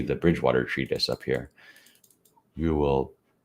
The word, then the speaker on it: Whewell: Whewell It's Whewell.